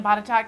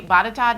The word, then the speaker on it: Botetourt: It's spelled very different than it sounds.